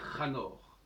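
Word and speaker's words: Hénoch: Parce que le livre d'Enoch, en fin de compte, il faut le prononcer Hanor.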